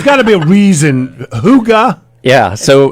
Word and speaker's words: Hygge: And they're like, I've been saying it wrong forever. Like they are paying members before they know if how to say it. If I hadn't heard you say it, I would have never got that right. And exactly. it's a Danish word, doesn't translate to English,